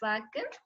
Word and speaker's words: Joaquin: And Joaquin, so you pronounce it as Joaquin.